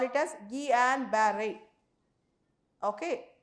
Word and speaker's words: Guillain-Barré: And more importantly, if you see Guillain-Barré syndrome, the pronunciation we have to call it as Guillain-Barré. Okay, Guillain-Barré.